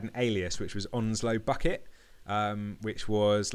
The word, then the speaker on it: Bucket: It was spelt Bucket, but the woman in the family was like really posh, and she always corrected people when it's pronounced bouquet.